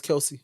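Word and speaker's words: Kelce: of the the Keli Kelsey Keli K Kelsey kelel kelse or is it kelse or Kel no it's Kelsey Kelsey yeah wo CH no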